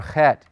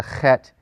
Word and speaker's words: het: used to saying and some people say it a little harder like Bach but you really want to get the Flemmi sound when you're pronouncing the het in Hebrew it's just a lot